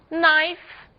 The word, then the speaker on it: knife: As letras G e K não são pronunciadas quando seguidas da letra N. Apenas o N é pronunciado.